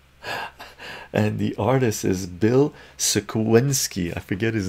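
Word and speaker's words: Sienkiewicz: Someone said how to pronounce this. Bill Sinkwich.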